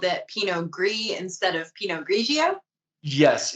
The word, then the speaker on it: Pinot Gris: why you called it pinot gris instead of pinot grigio yes exactly same exact grape but oregon the origin of the vines were from france and so they used the french pronunciation makes sense well this